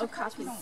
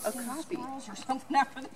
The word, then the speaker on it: okapi: So how do you say it? Okapi. Okapi. William, this is called an Okapi.